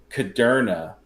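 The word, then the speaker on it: Kudrna: And it was one of their high draft picks last year, and he goes, "It's Ben Caderna, like Moderna."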